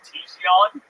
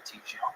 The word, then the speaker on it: Tiguan: It's a Volkswagen Tiguan. Ooh, a Tiguan.